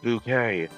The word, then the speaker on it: Bucket: It was sort of a drama show and the main character's last name was Bucket and she's like, "It's pronounced bouquet."